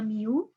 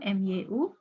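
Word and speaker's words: μ: Jadi kalo untuk populasi lambangnya Miu itu bacanya Miu mu ya kalau untuk sampel lambangnya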